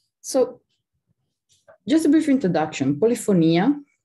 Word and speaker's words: Polifonia: Polifonia, which is the Latin pronunciation, but you can call it Polifonia or as you like,